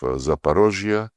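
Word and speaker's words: Zaporizhzhia: And when we now liberate remaining parts of Zaparosia, this is the Russian way to pronounce it.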